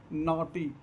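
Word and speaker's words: naught: फेर next rule देखें यदि किसी वर्ड में ए प्लस यू और उसके बाद जी एच टी आया हो तो ए का साउंड अ होता है और जी एच साइलेंट होता है।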